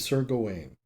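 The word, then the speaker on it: Gawain: story persists hotels with Sergo Wayne perhaps more correctly pronounced Garwin in the film who engages with a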